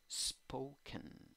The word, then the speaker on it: spoken: Y en la escritura tienes O, en la pronunciación tienes O con sombrero, O. En la segunda sílaba en la escritura tienes E, en la pronunciación tienes A. Spoken, spoken.